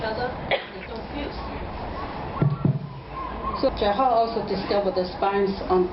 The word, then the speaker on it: Cajal: this name It's called Cajal Okay It's a Spanish name In 1887 Cajal used